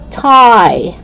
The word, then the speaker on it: Thai: don't pronounce the h you don't pronounce it as instead you only pronounce it with t thailand thai time thomas okay so it's not thailand five time thomas no it's not like that it's just the letter t the sound of t okay let's do it again